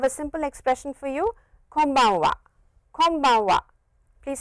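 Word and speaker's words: こんばんは: your lips like this close your lips and it is an M sound so please come one wah can bang one konbanwa so please remember that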